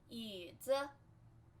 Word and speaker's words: 椅子: 凳子 stool, 凳子凳子 fourth tone, 凳凳凳子凳子 And then this is chair, 椅子椅子 Remember this is flat tone, 椅子 z z 椅子 And then this is Chachi.